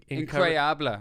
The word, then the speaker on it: incroyable: Incroyable is how you say it.